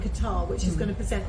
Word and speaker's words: Qatar: Because I keep calling it guitar, as in guitar. No, Qatar. Yeah, I know I was saying it wrong.